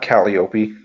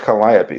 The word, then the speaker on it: Calliope: It's not Calliope. It's supposed to be pronounced Calliope.